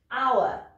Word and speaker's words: hour: Le H doit se prononcer, mais il y a quelques mots en anglais dans lesquels on ne les prononce pas. Voici certains mots. Donc il y a ceux-là et leurs dérivés. Hein. Hour, donc, qui veut dire heure.